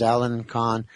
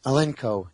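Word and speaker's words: Alinco: and there's several models Allen Con Allen Co. Anyway, Alenco, I'm sorry I kept pronouncing it wrong.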